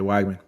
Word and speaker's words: Weigman: Wiegman? Yeah, Weigman.